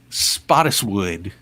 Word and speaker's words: Spottiswoode: Roger Spottiswoode I'm gonna I'll tell you how to pronounce it all right hi Roger Spottiswoode spot uh just spot it's moving whoo so Roger went